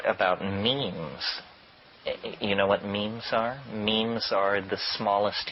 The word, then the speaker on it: meme: means you know what memes are memes are the smallest units of a concept and they're like genes the word is deliberately constructed to to rhyme with Gene and so when I